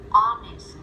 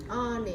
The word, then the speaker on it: honest: Và có một số từ mà có chữ H nhưng mà lại là âm câm. Hour. Hour. Hour. Ở đây là mình chỉ có phát âm cái đoạn phía sau thôi, còn chữ H là không có gì.